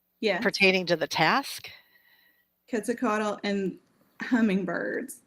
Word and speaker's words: Quetzalcoatl: I'm going to say it right, but like Quetzalcoatl. I'm not saying it right. Um, is that the Mayan or the Aztecs? Like The Quetzalcoatl.